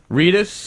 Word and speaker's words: Reedus: a star uh Norman Reedus Reus am I pronouncing that correctly yeah Reedus uh who is a star and Billy Connelly